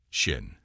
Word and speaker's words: Shin: or judgment in Aramaic this letter is written as and pronounced a shin the fifth letter is I Yad which has a numerical value of 10.